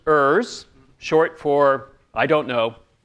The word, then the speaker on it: EURS: As Linda said, this is Eliciting Unstated Requirements at Scale, EURS, and we pronounce it EURS, short for I don't know.